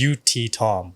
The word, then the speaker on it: Youttitham: it got butchered so it's pronounced UT Tom like it's that simple but like literally in